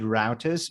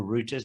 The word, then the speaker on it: router: is you know it made routers or routers depending on how you pronounce it it it was a